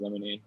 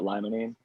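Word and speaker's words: limonene: It's actually pronounced lemonine, but uh most people call it lmonine.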